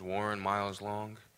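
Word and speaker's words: Warren Miles-Long: everybody my name is Warren miles long uh spelled out how it sounds phonetically Warren miles long otherwise known as Lauren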